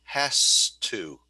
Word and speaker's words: has to: And when you use has to mean must, usually you pronounce it differently. So in this sentence, you would say she has to.